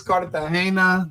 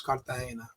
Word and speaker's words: Cartagena: It's Cartagena. The G makes an H sound in Spanish, so it's Cartagena.